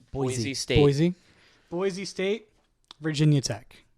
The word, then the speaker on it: Boise: I'm gonna mispronounce it. Which one? Boose. Boise State.